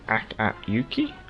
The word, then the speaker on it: Akatsuki: cat member does it you don't pronounce the you say act at yuki oh well that's quite